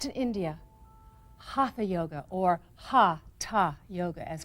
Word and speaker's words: hatha: was originally practiced in India hatha yoga or ha ha yoga as correctly pronounced these are Sanskrit words that literally mean